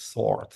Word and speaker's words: sword: edged sword no sword a very difficult word in English because you it is spelled sword but it is sword uh do you know